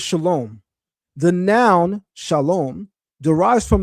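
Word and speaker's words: שלום: Example one, shalawam versus shalom.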